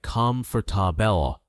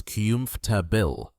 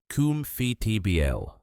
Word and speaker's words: comfortable: Now, many English learners see the spelling c o m f o r t a b l e and they think it should sound like com for tabel. Four clear syllables. But in real spoken English, native speakers don't say it that way. They make it shorter. The correct pronunciation is kymph tabil. Only three syllables.